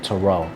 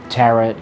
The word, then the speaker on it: tarot: how you pronounce it tear it tarot cards or whatever have you but as far as i could remember first starting out it's pronounced taro but again everyone's free